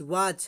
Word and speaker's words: watch: मतलब लास्ट में हो, तो TEN और TCH है, तो इसमें जो हमारी टी होती है, टी साइलेंट रहती है। जैसे आप देख रहे हैं WATCH, वॉच है ना, वॉच वॉच।